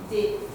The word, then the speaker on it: the: Normally we pronounce the with a short sound like The. But when it comes before vowel sound, we pronounce it as a long The.